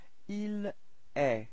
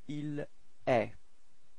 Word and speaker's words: il est: Okay, and then for il, masculine, il est. So it's quite strange because it does sound the same as tu, okay, but then there is this final T, but you don't pronounce it. So, il est.